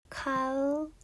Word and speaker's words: college: college. 혹시 이 G 발음 때문에 곤란한 적 있으셨어요?